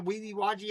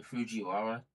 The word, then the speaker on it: Fujiwara: The Weeby Waji effect. I know I'm not saying it right. The Fujiwara. The Fujiwara effect.